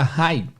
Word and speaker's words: high: é basicamente sou teta o GH geralmente é mudo esses DH geralmente quando ele aparece ele é mudo tá pegar uma palavra só com GH por exemplo no final a palavra High o Raid Oi Raid alto então se inscreve high1 mas a pronúncia apenas Hi não tem o GH E aí tem uma